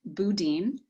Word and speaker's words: Boudin: The famous San Francisco bakery, pronounced even by the bakery itself, boudin. Lots of people have their own way of saying this.